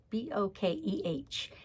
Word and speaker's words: bokeh: It's called Bokeh, and I love this technique. It's an old technique, and now they have designer series paper that is Bokeh technique. It's B-O-K-A-H, B-O-K-E-H, but it's pronounced Bokeh.